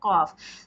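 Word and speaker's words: ق: is for calf and this is for heavier cough this is the hard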